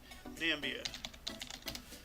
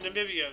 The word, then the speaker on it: Namibia: hold on a second nambia nope Namibia so there is no nambia we've been pronouncing it in the wrong the whole time oh my goodness wow